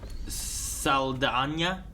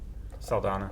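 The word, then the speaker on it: Saldaña: Saldana. Saldana.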